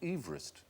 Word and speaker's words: Everest: because he didn't pronounce his name Everest he pronounced it Everest Everest Everest should be M George Everest George